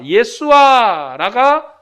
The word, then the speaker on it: 예수아: 그래서 이 유대인의 발음으로는 예수아라가 정확한 발음이죠.